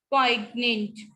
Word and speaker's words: poignant: और तो G silent है तो कहाँ से स्टार्ट करेंगे आप? नाल. ठीक है, नाश, नाट, नौ, champagne, poignant, physiognomy, sign, resign, and assign.